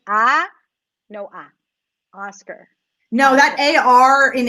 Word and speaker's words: Oscar: never get the emphasis so Oscar aw Oscar right and there's no a there right a lot of times especially in Spanish or Scott bull Scott right ah no I Oscar know that a are